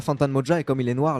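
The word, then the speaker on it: Fantan Mojah: Avec, alors, je vais essayer de bien le prononcer. Fantan Moja. Fantan Mojan.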